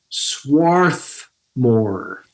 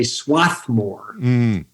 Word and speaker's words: Swarthmore: how to pronounce it swarth more there's an r in there that people tend not to say they say swathmore drives the people associated with the school a bit crazy so swarthmore swarthmore very